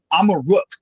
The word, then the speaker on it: Amaruk: Amaruk is how you pronounce Morocco in the Berber language, which was one of the languages from this land that the Moritanians spoke.